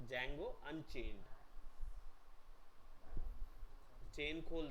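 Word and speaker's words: Django: वो एक्चुअली में डी जो है वो साइलेंट है, तो जैंगो अनचेन्ड, चेन खोल दी गई उसकी, अनचेन्ड है ना।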